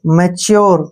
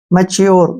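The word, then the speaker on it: mature: ए की मात्रा और टी यू का जो उच्चारण है यहां पर च और यू हो जाएगा ठीक है ना और आर से रे मैच्योर क्या पढ़ेंगे इसको मैचोर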